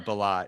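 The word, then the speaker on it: Bilott: could we start with bob villa is it billet is that how you pronounce it uh balot yeah yeah what was interesting in terms of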